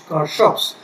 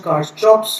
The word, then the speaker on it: Kirchhoff: But we have to remember the pronunciation of this uh law which is car shops. Somebody also pronounce as car chops law or key shops law or key shops law. But I will be sticking to car shops law.